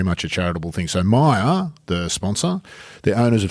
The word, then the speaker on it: Meijer: stores are actually called Meijer, but that's sort of the company. Is it an American origin company? Or, yes. So I'm suspicious of this J that's pronounced Y.